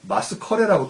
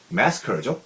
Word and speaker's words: massacre: massacre는 그 대량 학살이라는 뜻으로 쓰이고 또 경기에서의 대패도 massacre인데 스펠링 뒤에 보면 뒤에 또 CRE가 있다고 해서 마스커레라고 또 발음하시면 또 난감해지죠. massacre죠.